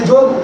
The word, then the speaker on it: যোগ: হ্যাঁ, আসেন আমাদের এখানে যোগ যোগ বলি, আর বিদেশে গিয়ে সেখানে যোগা। হ্যাঁ, যোগ থেকে কি হয়ে যায়, তারা যোগ শব্দ উচ্চারণ করতে জানে। যোগ কি বলে, যোগা, গা শব্দ আকার দিয়ে।